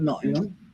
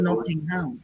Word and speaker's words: Nottingham: Yeah, but it says Nottingham. Nobody lives in Nottingham. They live in Nottingham. Yeah, but it says it's how it's spelled though, Nottingham. I know, but it's not how it's pronounced.